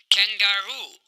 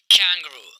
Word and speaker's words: kangaroo: Kangaroo, kangaroo. बहुत सारे students इस लफ्ज को कुछ ऐसे बोलते हैं Kangaroo. This is a wrong pronunciation. आप कैसे बोलेंगे Kangaroo, कंगारू.